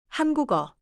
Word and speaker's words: 한국어: 한국어. 좋아요. 받침 기억 소리를 끊지 말고 이어주세요.